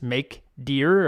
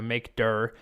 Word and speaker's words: mkdir: So to make a directory, the command is make dir or make dir. I guess you pronounce it directory. So make dir. I always say make dir in my head.